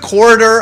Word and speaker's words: corridor: I'm emphasizing the middle syllable. Yeah, and the last syllable you're kind of giving up a little bit on it.